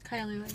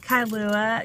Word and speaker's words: Kailua: KAILUA, yeah. KAILUA.